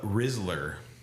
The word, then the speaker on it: rizzler: man I got it what's a rizzler r i z z l e r sounds like a riddler I think it's a